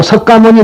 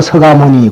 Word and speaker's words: 석가모니: 무슨 말이냐면 된 소리와 센 소리를 내질 않아요. 여러분들께서 흔히들 글자 그대로 써졌다고 석가모니 그런 분이 있는데 그거는 대단히 잘못입니다. 기억자는 떼어버리고 석가모니 그렇게 읽어야 됩니다.